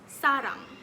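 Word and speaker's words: 사랑: from its korean script in korean the word person and love sounds very similar person is pronounced as sarah while love is sarang and both words in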